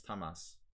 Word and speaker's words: Tamás: So Tamas or Tamás. In Hungarian, it's Tamas. But Gelashvili played knight f3.